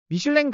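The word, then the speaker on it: Michelin: 정보 안내서로 자리 잡았죠 프랑스에서 시작되었기 때문에 프랑스의 발음대로 미슐랭이고 있는데요 미국식 발음으로 읽을 때는 미쉐린이 아고 읽게 되죠 그래서 가이드북을 지칭할 때 프랑스 식으로는 기드 미 미국식으로는 미쉐린 가이드라고 불리죠 우리나라 사람들은 미슐랭 하면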